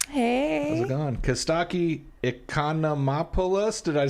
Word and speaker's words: Economopoulos: Costaki Economopoulos, did I say it right?